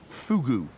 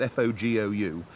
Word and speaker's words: fogou: This is Joe whose garden it is, whose fogou it is. No, fogou. I know it's spelt F-O-G-O-U, but it's pronounced fogou. Oh, really? It's all to do with the pursing of the lips, they tell me.